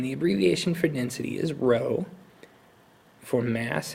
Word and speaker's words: rho: abbreviation for density is the Greek letter row that's spelled rho so this Greek letter